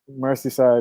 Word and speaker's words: Merseyside: job Felix goes into how do you say mercy site Merseyside yeah and get the gold against the scousers